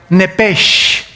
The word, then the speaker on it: Nepesh: Esa palabra alma es la palabra hebrea Nepesh, así como suena, N-E-P-E-S-H, Nepesh.